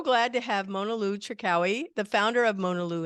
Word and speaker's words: Cherkaoui: Mona Lou Cherkaoui. Excellent. Oh my God. Excellent. Cherkaoui, just like it is. Yes. Thank you. Anyway, I'm so glad to have Mona Lou Cherkaoui, the founder of Mona Lou International and Global Women of Impact.